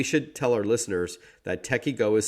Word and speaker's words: TekyGo: combat both of those concerns and it's called techie go and joining us on the line to chat